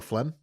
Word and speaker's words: phlegm: This episode, I have one that says, "Hey, you know phlegm." Yeah, phlegm is spelled so stupid. Is it PH? Spell it for me. PHLEM? Nope. Oh. PHLEGM. Oh, you motherfuckers.